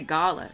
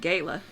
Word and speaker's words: gala: Wait, I'm the British version. I say gala. You sorry. have to say it with the American accent of gala.